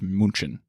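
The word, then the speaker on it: München: uh Munich Munich Munich Munich I don't know moonshin but is that what they say there you're confusing me so uh Munich or in Germany it's pronounced Munchen oh yeah so I tried I tried to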